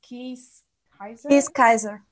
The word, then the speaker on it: Kees Keizer: We have, and Carrie, help me to pronounce the name, a researcher from the Netherlands, Kees Keizer.